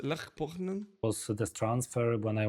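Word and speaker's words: Lech Poznań: Okay, the football Olha, presta atenção na pronúncia. Lech Poznan.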